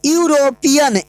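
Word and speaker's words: European: है ना, हाँ है, बट इसका प्रोनाउंसिएशन निकालो तो यूरोपियन, यू यानी कि क में तो यो आ रहा है, यानी कि व्यंजन आ रहा है, तो ये यहाँ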